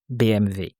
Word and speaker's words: BMW: Oh, so he was driving the BMW student. Did I say BM or BM? BMW. But that's the original pronunciation. Yeah, the German one. BMW. BMV.